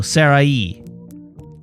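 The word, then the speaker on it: Saraï: I with 2 dots pronunciation. This accent is found on only 3 vowels, E, I, and U. The diresis usually indicates that the accented vowel must be pronounced distinctly from the vowel that precedes it. In other words, the 2 vowels are not pronounced as a single sound, like A, or as a diphthong.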